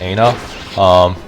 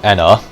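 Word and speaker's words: Ena: Yeah, so a little bit about the boss Aina, or Enna, depending on how you pronounce it.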